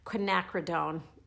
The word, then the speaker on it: quinacridone: a long time to figure out how to pronounce it okay ready quinacridone I did so I will use this magenta